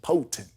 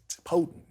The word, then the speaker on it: potent: right potent is like you don't pronounce the T potent potent when you do 20